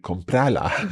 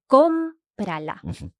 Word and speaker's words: cómprala: And if we're applying that rule about using the second last syllable for our strong syllable, it would sound like comprala. Yes, which sounds really funny. So we need the accent to indicate that the stress is still on comprala.